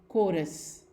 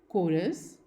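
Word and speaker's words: chorus: कुछ और वर्ड्स हम देखते हैं जो कि CH से शुरू होते हैं और उनको हम प्रोनाउंस करते हैं एज क, एज इन कोरस, कॉय, केओस and school.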